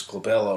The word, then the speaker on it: glabella: starts, is called the glabella. The glabella means hairless, and that's that area right in there. And well, that, you know, is often on the test because glabella rhymes with Isabella.